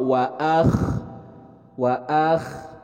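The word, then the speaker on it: وَأَخْرَجَتِ: Nah, untuk kha di sini keluarnya bacaannya itu dari adnal halki, dari ujung tenggorokan. Jadi kha, akh. Jadi ketika pembacaan huruf kha itu seolah ketika kita sedang serak. Jangan dibaca kha.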